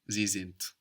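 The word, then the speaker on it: sind: zint they are zint zint good and it's spelled s n d and again we have the hard version of the D sounding like a t zint how was the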